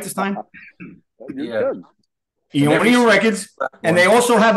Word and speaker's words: Eonian: Eonian Records.